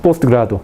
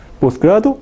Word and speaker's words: posgrado: postgrado a ver postgrado postgrado no se dice postgrado a postgrado Entonces cuando ubica en posición final de sílaba el resultado es posgrado o no se pronuncia aú se puede escribir así a ver posgrado